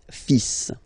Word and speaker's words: fils: So it's le, and then even if it, you've got this L, well, basically you don't pronounce it, and then strangely you pronounce the final S. Le fils, le fils, le fils, le fils.